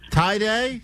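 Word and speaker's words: Taide: And my name is Tday. Tiday. Yes. Tie day.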